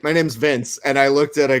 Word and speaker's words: Vinc: with one dude because he pronounced my name vinck he calls me vinc and i was like my name is vince and then he doesn't